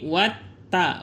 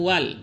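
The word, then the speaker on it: وَالتَّرَائِبِ: Jadi watta bukan wal tapi watta.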